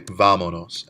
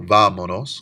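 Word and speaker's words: vámonos: of saying vamos nose we could say vamonos and notice three syllables back on the stronghold or the only vowel we add an accent so vamonos comes from vamos nose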